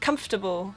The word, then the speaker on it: comfortable: like it's a sentence but it's actually just comfortable so the whole comfortable thing forget about that